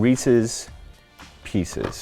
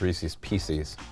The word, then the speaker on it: Reese's Pieces: You've got Raisinettes and Reese's Pieces. - Thank you for pronouncing it the right way. - As opposed to what? - An 8-year-old who says Reese's Pee-sees.